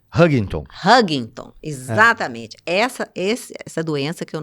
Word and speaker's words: Huntington: Como é que é a pronúncia? Huntington, exatamente.